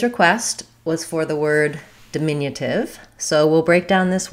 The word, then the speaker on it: diminutive: The di beginning as a prefix when it's short does have the same ih vowel as in the stress syllable. It's just going to be shorter. So I'm going to say ih, ih, di, mi, di, min, but this di is going to be light and short. And my min is going to be a little bit longer in duration.